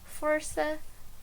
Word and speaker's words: força: And here an example, força, ouça. And as you may realize, when we have the C cedilha, it's just like as if we had the letter S. So it has a letter S sound.